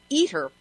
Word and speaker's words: ITER: international thermonuclear experimental reactor or ITER pronounced eater project at the Oak